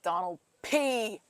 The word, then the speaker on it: Donald P: And when you say his name, it's Donald P. Heavy on the P.